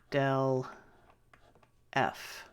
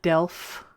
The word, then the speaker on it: del: down Delta F alright this is pronounced del F alright not Delft del F alright del